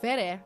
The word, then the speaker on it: Vere: I open my mouth to correct him, but Vere cuts in. I hate his name. It's just like pronounced like Ver, like hair.